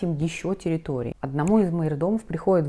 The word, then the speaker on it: майордом: Кто такой майордом? На самом деле для русского языка гораздо более понятно звучит мажордом, вот, но правильно считается произносить майордом.